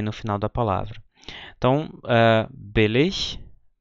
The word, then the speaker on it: billig: O grande problema acontece quando os alunos, depois de aprenderem essa pronúncia, começam a aprender a usar as terminações, as declinações, porque a pronúncia muda, ou seja, billig vira billiger, quando eu acrescento uma terminação.